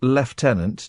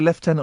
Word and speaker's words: lieutenant: A retired lieutenant... Do we say lieutenant or lieutenant?